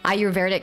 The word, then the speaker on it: Ayurvedic: His work in the Peruvian Amazon, as well as the Ayurvedic hospitals in India. Did I say it right? Ayurvedic, almost?